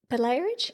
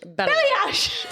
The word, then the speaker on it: balayage: Belayerage? Balayage. So technically you're correct, but it's balayage.